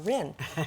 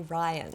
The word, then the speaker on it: Rihn: saying to Shoshana, I think we all have pronounced her name Shoshana Rihn for the most part, but now we know that it's actually Ryan, so we all stand corrected.